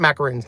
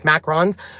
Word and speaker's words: macarons: or Mac you know it's not macaroons macarons cuz you can glow